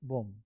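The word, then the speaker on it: bomb: इसमें बी का उच्चारण नहीं करेंगे, बम, बम, बम, ये है कोम, बम, बी उच्चारण नहीं करेंगे।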